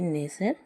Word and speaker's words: nestle: दूसरा है NESTLE नेसर, इसमें भी जो है STLE आया हुआ है, जिसके वजह से टी साइलेंट रहता है।